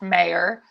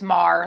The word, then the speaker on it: Maher: So a lot of people think it's pronounced Mayor, but it's Mar, like the planet Mars.